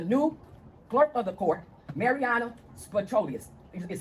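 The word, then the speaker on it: Mariyana Spyropoulos: The judges here are corrupt, along with the new clerk of the court, Mariana Spatrolius, is how you say her name.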